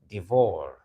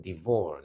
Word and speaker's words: devour: you call this word I usually hear divor divor that a lion can divor blah blah blah a lion can devour no it is devour devour so this is the vour look at it devour